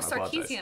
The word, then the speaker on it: Sarkeesian: and you get sarkeesian sorry we've been saying it wrong whole time sarkeesian I thought there was a c there yes okay we been